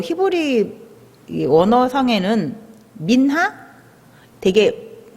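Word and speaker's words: מנחה: 드리는 건데이 소재가 특별하게 뭐 히브리 언어 상에는 민하 되게 발음이 예쁘죠 한국 발음으로 민하랍니다 근데 이게 뭐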